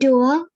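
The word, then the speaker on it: doigt: It is always OI is always pronounced as OA without nasal sound.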